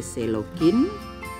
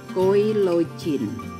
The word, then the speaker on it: Coelogyne: banyak penganggrek asal Jogja terbiasa menyebut genus ini sebagai selogin karena ya Dari dulu diajarkan oleh senior kami seperti itu kami sendiri tidak tahu pastinya Bagaimana pengucapan ejaan yang paling benar atau diakui internasional tetapi jika menurut dari asal-usul kata dari bahasa Yunani yaitu koilos dan game kemungkinan besar pengucapan yang tepat adalah koi login alasan kenapa tanaman ini